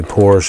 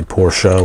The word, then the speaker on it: Porsche: It's a Porsche 930 Turbo, or Porsche, as most people in America say Porsche. Outside of America you say Porsche, which is technically the correct pronunciation.